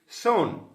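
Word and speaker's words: shone: সন, সনটাকে সন এইভাবে উচ্চারণ করব, এবং এর মানে হচ্ছে উজ্জ্বল হয়েছিল, উজ্জ্বল, অর্থাৎ গেভ আউট এ স্মাইল, ব্রাইট লাইট, উজ্জ্বল আলো।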